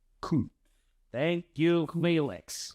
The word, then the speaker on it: Kuntz: The last name of the German soccer coach we interviewed earlier this week is pronounced Coates. Coates.